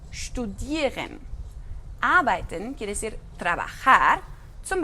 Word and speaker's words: studieren: Tenemos ST, entonces ahí la pronunciación es como SHT, studieren.